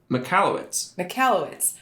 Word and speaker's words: Michalowicz: It is. Michalowicz. Mike Michalowicz. That's actually much easier than it looks.